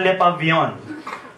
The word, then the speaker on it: Le Pavillon: So, sa Le Pavillon, Pasay City. Yun ang pronunciation niya na.